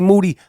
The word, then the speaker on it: Moody: On today's episode of the I Am Rapaport Stereo Podcast, me and Moody, last name rhymes with duty, are going to do our thing.